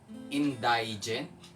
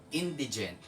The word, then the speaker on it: indigent: Indigent. Okay? Ang tamang pronunciation dyan ay indigent.